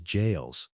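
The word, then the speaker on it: gaols: Prisoners in London jails, and even though it's spelled with a G, it's pronounced as jails, fought battles with their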